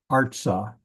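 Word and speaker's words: אַרְצָה: showing the direction and notice that the accent Arta the a at the end is is not accented the accent is at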